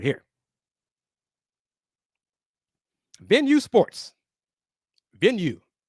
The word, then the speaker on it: Venue: Venue. Pronounced like you say venue.